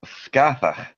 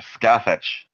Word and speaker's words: Scathach: I am of the Barony of Festivals, of course, of House Scathach, or Scathach, or Skea. The very many different pronunciations of what seemed to be originally Gaelic words.